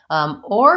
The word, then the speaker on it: or: or to say recorded or is basically just the tight back or with the round shaped first and I'm not really